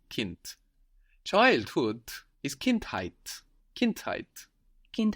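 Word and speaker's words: Kind: word child Kint Kint again k i n d but we hear a t Kint childhood is Kint height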